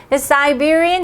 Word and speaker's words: Siberian: 아까 웃으라고 닮았다고 했는데요 siberian husky Sometimes I J 우린 이제 시베리아라고 하는 영어로는 siberia를 아이라고 읽어야 돼 그래서 꼭 사 시베리아의